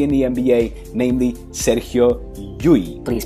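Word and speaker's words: Llull: have yet played in the NBA namely Serio yui please pronounce a yui not L it's dou l in Spanish is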